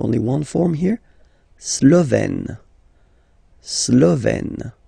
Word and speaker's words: Slovène: Slovène. Remember, E accent grave, you open it. Slovène.